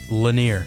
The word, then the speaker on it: Lanier: Lanier.